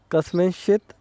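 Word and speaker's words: कस्मिंश्चित्: सबसे पहला जो शब्द है कस्मिंश्चित, सबसे पहले क, फिर आधा स, उसके बाद मी, उसके ऊपर बिंदी है न, कस्मिन और श्चित, कस्मिन श्चित।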